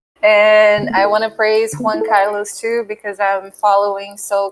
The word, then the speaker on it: Juan Carlos: It's funny because it's like you're saying number one, and it's Who, like the Who, the music group. So that's the way to pronounce it. Juan Carlos.